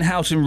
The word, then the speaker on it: Houghton: The locals pronounce it Hooton, so that might make it easier.